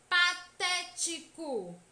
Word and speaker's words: patético: devem ser acentuadas e na palavra patético é proparoxítona pois a antepenúltima sílaba é tônica passei tipo a sílaba até é a mais intensa é aqui demora mais a ser pronunciada e essa sílaba pode